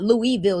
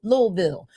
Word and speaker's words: Louisville: It's not Louisville. It's Louisville, right?